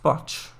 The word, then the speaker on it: bodge: misremembering it um sh bodge is pronounced botch H strange I'm surprised